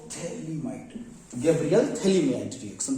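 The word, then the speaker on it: phthalimide: Gabriel थैलामाइड, P silent है यहां पर, पिथैलामाइड मत कर देना, गैब्रियल थैलामाइड रिएक्शन।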